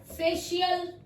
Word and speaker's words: facial: Musician, फेशियल, फिर हमने इसको श बोला, म्यूजिशियन, फेशियल, और है मजिशियन। मैं आपको स्पेलिंग्स भी बता देती हूँ, MAGICAIN, magician, musician, FACIAL, फेशियल।